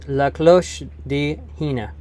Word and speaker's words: La Cloche de Hina: looked up the story the pronunciation is la close di hina hina was the princess